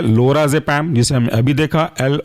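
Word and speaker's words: लोराजेपाम: जेड ई पी ए एम एक साथ पढ़ेंगे लोरा जपाम नेक्स्ट एग्जांपल है आपका टेमा जपाम टेमा जपम के स्पेलिंग है टेमा टी ई एम ए और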